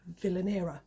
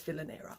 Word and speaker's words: Vilanera: a bag company called Villaina. And I'm hoping, sorry Luca, if I've if I've pronounced it wrong. I think it's Villainer. It's the way I pronounce it and I kind of